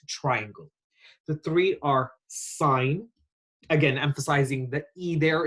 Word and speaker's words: sine: triangle the three are sine again emphasizing the a there it's not sin it's sine we also have cosine